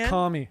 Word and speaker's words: Kami: and the answers are goku kami oh it's kami sorry kami kami bastard god damn it call me back spelled with a k it is k-a-m-e kami bastard's